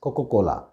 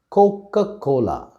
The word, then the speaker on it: Coca-Cola: brand by sight it is coca-cola we sometimes pronounce it as coca-cola but the right pronunciation of this word is coca-cola all right the next brand name that we